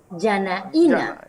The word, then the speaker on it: Janaina: Yanaína. Yanaína, pues, es mejor, ¿eh? Yanaína. Bueno, me recuerda al Instituto Nacional de Agricultura las últimas 3 palabras. Letras. Yanaína.